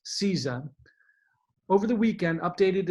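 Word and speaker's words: CISA: of Homeland Security cybersecurity and infrastructure security agency pronounced seiza over the weekend updated its list of essential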